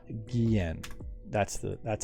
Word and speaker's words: Guillen: supporting a multitude of unique and challenging it's gehen that's the that's how you spell it g-u-i-l-l-e-n check out our tweeter at left-left